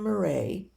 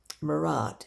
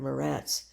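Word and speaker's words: Muret: Steven of Marray, Morat it's pronounced, I think, but m au mur a t.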